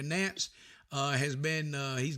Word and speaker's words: Nance: know they they got Lance uh excuse me Nance I've mispronounced his name there Nance uh has been uh